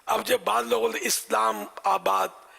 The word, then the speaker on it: اسلام آباد: اب جب بعض لوگوں نے اسلام آباد، حیدر آباد، تو یہ تھوڑا تکلف کر رہے، ایسا نہیں ہے، حیدر آباد بولو، مد بولنے کی ضرورت نہیں ہے، اسلام آباد بولنے کی ضرورت نہیں ہے، اسلام آباد صحیح تلفظ بھی ہے، اسلام آباد.